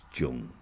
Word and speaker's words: Jang: It's spelt like Jang, but it's Jung pronunciation. And he said to me, "Come with me.